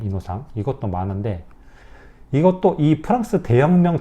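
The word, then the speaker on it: Innocent: 이런 순결한 이런 뜻이죠 요거를 프랑스어로 읽은 프랑스어 발음이에요 이노상 이것도 많은데 이것도이 프랑스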